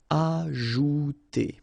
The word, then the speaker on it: ajouter: So remember, J is really pronounced like J. Ajouter.